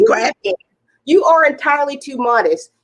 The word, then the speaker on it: Graphghan: Graphghan. A lot of people don't understand, but the graph is like the chart, and the gan is like an Afghan.